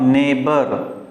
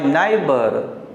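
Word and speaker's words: neighbour: यानी करेक्ट होगा नेबर। यू आर माई नेबर, तुम मेरे पड़ोसी हो। लेकिन जब आप कहते हैं यू आर माई नाइबर, means it is incorrect, वो गलत उच्चारण हो जाता है।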